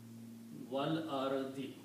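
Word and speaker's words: والأرض: So it will be wal ardi. Okay? Same thing happened here, that you do not pronounce this alif, so you put a little sword there. Okay?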